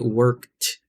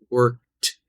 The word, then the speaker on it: worked: in the word worked, it's pronounced more like a T sound, right? Worked. You hear that T. Whereas played, it sounds like D, right? Played, played, worked, worked, right?